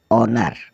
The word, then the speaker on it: honour: अब चलते हैं हम एच अल्फ़ाबेट की ओर जिसमें एच साइलेंट रहता है। HONOUR ऑनर, ऑनर मतलब सम्मान।